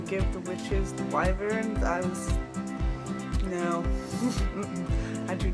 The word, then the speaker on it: wyvern: learned that they were going to be getting wyverns, yes, that is how you pronounce it. I looked it up on 8 different online sources, how to pronounce that word for that mythical creature. It is wyvern, not wyvern, not wavern.